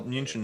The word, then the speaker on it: München: Oh well, München is how you say Munich in German.